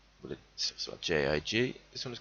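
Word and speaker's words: gigue: This particular dance type is called a jig, spelled with a G as opposed to the one spelled with a J-I-G.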